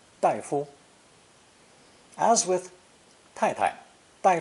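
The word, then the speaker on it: 大夫: for a medical doctor daifu daifu as with tai tai tai fu may be spoken with a neutral tone for the second syllable since they're very common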